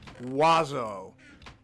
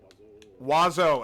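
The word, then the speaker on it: oiseau: my sister knows French I don't it is pronounced wazo wazo as in w a zo o is how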